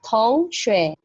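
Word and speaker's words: 同学: Nah, jadi cara bacanya adalah tong shui.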